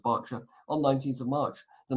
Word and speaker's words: Berkshire: from Buckingham Palace to a Berkshire that's pronounced Berkshire on 19th of March